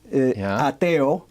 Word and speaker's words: ateo: Yeah, so in Spanish, if you spell each letter, A, T, T, O, ateo, is the word for atheist. If you say ATO in Spanish, it pronounces the word atheist.